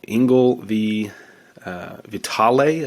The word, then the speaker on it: Engel v. Vitale: So Engel v. Vitale, I believe is how you say it, is our next case.